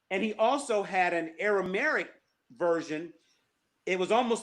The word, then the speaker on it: Aramaic: Am I saying it right? Aramaic, that language? Aramaic. Aramaic. Aramaic. Yes.